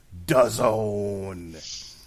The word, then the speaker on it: DAZN: Brought to you by the good people at DAZN, which, as we all know, rhymes with calzone.